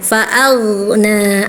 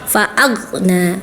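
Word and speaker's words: فأغنى: Waajakaan faagna harusnya faagna ada aliran suaranya. Tadi kakak diputus faagna. Faagna tidak boleh diputus tapi ngalir dulu ya.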